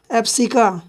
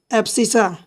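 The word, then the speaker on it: abscissa: वाला होता है उसको इंग्लिश में बोलते हैं एप्स का ठीक है एबस सा और दूसरा वाला जो होता है उसको ऑर्डिनेट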